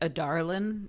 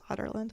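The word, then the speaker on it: Adarlan: of otland is here it's spelled in the book like a Darlin but uh no they sayland it's a d a r l a n but it really sounds like otland yeah I said a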